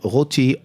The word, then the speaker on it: Roty: You have a good French pronunciation. Okay. A 2000. Joseph Roty, R-O-T-Y.